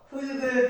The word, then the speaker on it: 흙: 흙을 발음할 때는 우리말의 음절 구조의 특성에 따라 자음이 탈락하는 음운 변동이 일어난다. 네, 흙, 리을이 탈락하는 거죠.